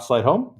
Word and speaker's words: Sleightholm: We have Scott Sleightholm. Did I pronounce that properly?